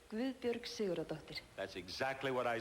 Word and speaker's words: Guðbjörg Sigurðardóttir: You pronounce it Gavud Bjorg Sigurd Doctor. Yes. Let me hear you say it. Guðbjörg Sigurðardóttir.